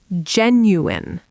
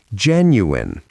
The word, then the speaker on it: genuine: schedule, schedule Now, genuine. genuine, three syllables. The last part is not wine, it is in. genuine Say it slowly first.